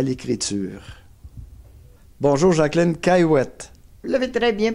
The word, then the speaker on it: Cayouette: Bonjour, Jacqueline Caillouette. Vous l'avez très bien prononcé.